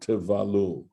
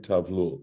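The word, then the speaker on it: תבלול: there's the word tevalul. And I said tavlul. So I'm doing Tivulal, a yeah. great job today of mispronouncing words.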